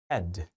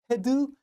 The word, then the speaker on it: head: head, head. 그렇죠? 근데 발음을 하실 때 head, head, in your head, in your head, 우리나라 말의 해와 드처럼 head 이렇게 발음을 하시게 되면 원어민들이 못 알아듣습니다.